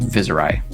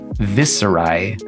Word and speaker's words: Viserai: social media, and so I choose to pronounce his name with a Z instead of an S. Viserai cheapens the lore, though